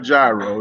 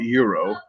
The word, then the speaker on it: gyro: It's not a gyro. It's spelled GYRO, but they call it euro.